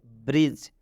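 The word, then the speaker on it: bridge: अब हम एग्जाम्पल की तरफ बढ़ते हैं, जैसे ब्रिज।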